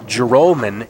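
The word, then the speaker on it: Joralmon: r a l m o n that we pronounce it jolman instead of Jalan which is how it appears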